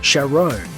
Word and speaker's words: Charon: universe his name is Sharon and it's a very fitting name for someone with his occupation in Greek mythology Charon spelled the same but pronounced differently is the ferryman who